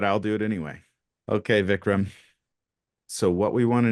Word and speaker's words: Vikram: No, I would prefer to be referred to by my first name, which is pronounced Vikram. Vikram. Perfect. Okay. That makes me nervous, but I'll do it anyway. Okay, Vikram.